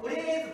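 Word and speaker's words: 患え: ね、なので、ウレーズと読むんです。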